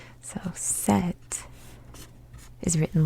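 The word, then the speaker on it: 셋: Now, remember when I told you that the S letter, this one, when put at the end of a syllable, becomes a T sound. So set is written like this.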